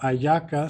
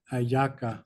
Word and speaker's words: hallaca: this is a ayaca spelled with an H, so it's spelled Yeah, HALLACA, ayaca.